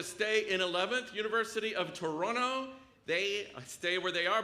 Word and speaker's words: Toronto: am I right that you don't pronounce the last T it's Toronto Toronto okay sixth place if